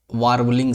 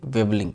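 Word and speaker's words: warbling: देखिए यहां पर वारबलिंग सब लोग पढ़ते हैं। बट यहां पर आर क्या होता है? साइलेंट होता है। इसलिए इसको हम लोग क्या पढ़ेंगे? वेबलिंग पढ़ेंगे। बबलिंग।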